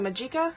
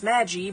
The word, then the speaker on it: Magi: My very first time drawing Homura Akemi from Puella Magi Madoka Magica, I think it's pronounced. I have a tendency to say it as Magi, but I'm pretty sure it's supposed to be Magi. Which is weird, because during